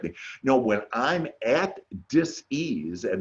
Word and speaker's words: dis-ease: It's D-I-S dash ease. So it's dis-ease. It's not disease, and there's some disease that comes that's going to get me. No, when I'm at dis-ease and not having good